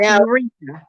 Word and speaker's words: Ureeka: And then the third one is Eureka, and that's spelled Ureeka. Ureeka. That's Eureka.